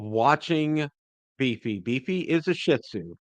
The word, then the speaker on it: Shih Tzu: beefy beefy is a Shih Tzu and emphasis on the first part of that syllable okay and uh quick